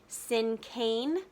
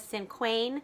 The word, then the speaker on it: Cinquain: in our unit is a Cinquain poem. That's how I'll be pronouncing it today. Sometimes you might hear people pronounce it as Cinquain. I have heard it pronounced Cinquain also. So there are a few different pronunciations, and there are a